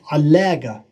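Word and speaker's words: علّق: So the shadde, now we have allaga, all right? Allaga, we pronounce the qaf with a g here mostly in Jordan.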